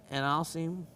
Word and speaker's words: analcime: It's pronounced analcime, and at least that's one of the pronunciations of it.